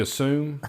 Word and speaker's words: Aszú: So, now this one here is the Tokai Azoo. Is that how you say it, Matt? Uh, as I think it's Yeah, I got I actually took notes on Is that what happens when you assume? Yeah. Asu as Yasu. Yeah, it's it's it's assu.